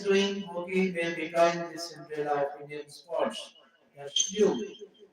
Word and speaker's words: Cinderella: It's Cinderella with a stress on the third syllable.